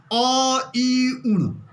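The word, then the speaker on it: अइउण्: देखिए, जैसे मैं उच्चारण कर रहा हूँ, अ ई उण, अ ई उण, तो यहाँ पर अ का उच्चारण नहीं आता है, तो हलंत।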